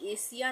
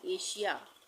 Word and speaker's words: Asia: एशिया नहीं पढ़ते हैं, इसको हम पढ़ते हैं एशिया।